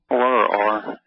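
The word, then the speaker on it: אור: Or. Yeah, O-W-R, or, right? Or is the way we spell it and pronounce it.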